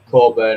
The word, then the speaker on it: Coburn: And bringing Josh Coburn, or Coburn, how it's pronounced, Coburn on the bench just sums it up, really, doesn't it?